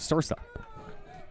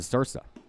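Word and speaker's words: Ysursa: Had so many technical difficulties I didn't have time to ask for pronunciations, but he spells his name Y-S-U-R-S-A, so I'm guessing the Y is silent, and I'm going with Sursa.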